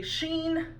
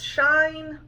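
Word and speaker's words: Shein: ruin this name because I say Sheen apparently it's shine I don't know I've heard it pronounced like four different ways those are your budget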